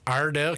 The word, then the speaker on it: Iredell: Iredell County.